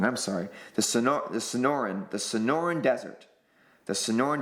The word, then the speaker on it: Sonoran: us oh it's the I always I always pronounce this wrong I'm sorry the Sonora the Sonoran the Sonoran Desert the Sonoran Desert which is